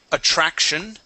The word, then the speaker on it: attraction: Let's go to the word attraction. Attraction. Attraction. Attraction. Yeah, so here we pronounce a CH. Okay, so, okay, that's how you're going to pronounce at the beginning.